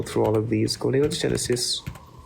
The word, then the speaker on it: dysgenesis: Gonadal digenesis It's dysgenesis, by the way.